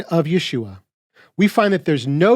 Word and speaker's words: Yeshua: The Messiah's name is pronounced Yeshua.